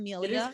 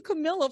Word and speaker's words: Cammilia: Most people don't pronounce it right, so usually I'm just like Cam. Cam is good. Well, I was calling you Camilla for a little bit, and I was like,